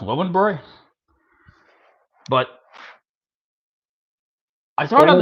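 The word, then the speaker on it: Löwenbräu: Lowenbrow? I believe it's supposed to be pronounced Lowenbroy.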